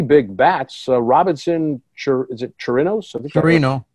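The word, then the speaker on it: Chirinos: Robinson, is it Chirino? Chirino. Yeah, the S is silent. So Robinson Chirino.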